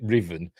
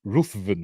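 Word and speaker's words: Ruthven: I shoot the bastard Riven and she she pronounces it Riven if it written down and you didn't know you'd be pronouncing it ruen wouldn't you it's like shoy gatworth the new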